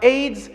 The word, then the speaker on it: AIDS: aids and we have the example cnn now aids is an acronym cnn is in initialism and